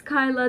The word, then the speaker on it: Kayla: People pronounce it as Kyla. That is why I introduced myself as Kyla as well. But you can pronounce it as Kayla as well, because that is technically the correct way to pronounce it.